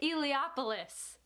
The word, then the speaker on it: Eliopoulos: Adventurers Guild by Zach Lauren Clark and Nick Eliopoulos.